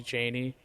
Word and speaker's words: Chani: Oh, I thought it was Chani. No, it might be. I don't know. It's like a weird in between. Sometimes I feel like, but like it's mostly Cheney. How they say it.